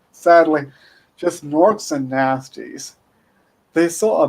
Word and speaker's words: Gnorc: Norks and nasties. Norks is spelled Gnorc, as in gnome plus orc.